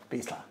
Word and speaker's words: Bresler: Florian Besler. Ja, so ist es richtig, oder? Vielen Dank, ja, richtig ausgesprochen.